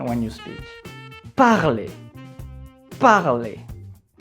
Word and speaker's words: parler: group so let's continue when you see the letter e next to r at the very end of a word you have to pronounce it as e you see it's not parler it's parley to get more information